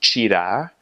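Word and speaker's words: tirar: if there's a TI so the word for to take something is cheetah spelled TIR AR cheetah so that's different than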